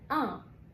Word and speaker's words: un: أول أداة للمفرد المذكر اسمها ان، بتتنطق ان.